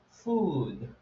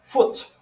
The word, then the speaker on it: food: people wants to say food the think what you use to eat but a lot of people pronounce foot instead of food instead of food we